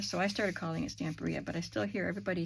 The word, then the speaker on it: Stamperia: So in not using the Stamperia paper, I used to call that Stamperia, but then I saw a video with someone from that company. It's Italian, and they pronounced it Stamperia.